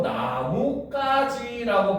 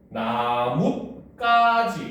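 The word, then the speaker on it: 나뭇가지: 그랬더니 원래대로 나무가지라고 발음하는 사람들이 있는 반면에 받침으로 쓴 시옷까지 발음해가지고 나무까지 이렇게 발음하는 사람도 있는데 현재는 둘 다 복수 표준어로서 올바른 발음으로 인정을 합니다.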